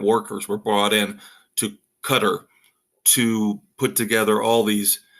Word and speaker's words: Qatar: Well, now the honest, true number has come out from Qatar. And I hate saying it. I know that's the right way to pronounce it, but it's always Qatar to me.